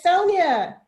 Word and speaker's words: Sonia: Is it Sonya or is it Sonya? It's Sonia.